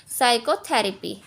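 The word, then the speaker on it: psychotherapy: अब हमारा एस से पहले पी आ रहा है, पी हमारा साइलेंट है तो हम इसको पढ़ेंगे साइकोथेरेपी। क्यू आर S letter कभी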